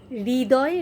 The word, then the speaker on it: হৃদয়: তালুতে নিয়ে লাগাবো হৃ তারপরে দয় দয় টা এনে দাঁতে লাগাবো তাহলে একেবারে সঠিক উচ্চারণ হবে হৃ দয় এটা কিন্তু হৃদয় নয় বা হৃদয় নয়